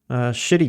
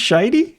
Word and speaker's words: Shitey: shooters like this, like shitty games. I don't know how to pronounce it, and it's SHIDY, and I instinctually say shitty, but I think it's shitey. It's shitey.